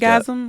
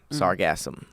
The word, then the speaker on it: Sargassum: blob that like washed sargasm, up. like orgasm, sargasm. It's not spelled the same. Sargassum. It has 2 S's.